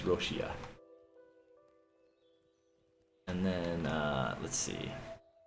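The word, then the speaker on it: ロシア: is Russia so but it's being turned into Katakana so it's like she uh so it's like roshia how that would pronounce it in Japanese roshia and then uh let's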